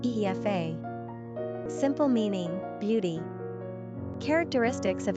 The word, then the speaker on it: Aoife: Pronunciation, Aoife.